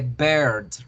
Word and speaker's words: bird: Que por cierto, la pronunciación es the bird, right? Si decimos the beer es la cerveza.